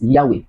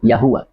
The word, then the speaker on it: Yahweh: This central ging which is a Y h pronounced by the Hebrews as Yahweh or Yahweh in full.